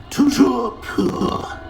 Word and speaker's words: Toujours pur: I order you to pronounce it for me. But Master knows that Scrope's French is most pitiful. Very well. Toujours pur.